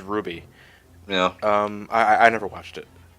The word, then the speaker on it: RWBY: I think it's pronounced Ruby.